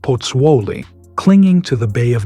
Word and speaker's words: Pozzuoli: During the war, how do you pronounce the name of your original hometown? Pozzuoli.